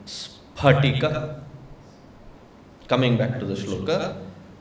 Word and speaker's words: स्फटिक: In samskutam there is no syllable which pronounces as f. It is not spatika. It is spat. It is not p fb. It is p-b. Therefore, it is not karmafal. It is karma pala. It is spatika.